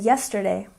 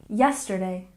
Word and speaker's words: yesterday: And yesterday, stress the first syllable, yesterday, yesterday.